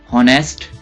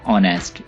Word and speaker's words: honest: इस वर्ड को honest ना पढ़िएगा, ये वर्ड है honest। यहाँ पे H साइलेंट है।